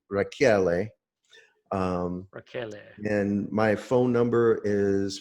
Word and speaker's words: Rachiele: L e calm and everyone mispronounce is it including my family if we say Raquel but it's a telling and it should be rocky LA and my phone number